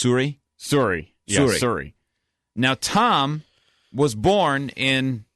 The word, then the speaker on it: Suri: u r i and it was wasn't it pronounced Suri Suri Suri now Tom was born in New York state